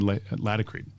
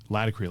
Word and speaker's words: Laticrete: And technically the name is not Laticrete like I'm saying, and everyone else usually says. It's Laticrete. So it's latex and concrete is how the name of it's technically pronounced Laticrete.